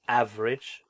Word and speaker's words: average: Now I know that there's the magic E there that makes it sound like, oh, like I should have ave, like that. But it's average, just like it's avenue. Even though there's an E there, it's avenue, average.